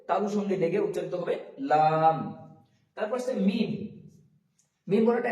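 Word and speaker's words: ل: একটু বাতাস বের হবে তারপরে আসছে লাম লাম বলার সময় লাম জীভের আগাটা উপরের তালুর সঙ্গে লাগিয়ে ও জীবের আগাটা উপরের তালুর সঙ্গে লাগিয়ে উচ্চারিত হবে এবং দুই ছুট একসাথে মিলিত হবে হয়ে উচ্চারিত হবে লাম লাম মানে শেষ অংশে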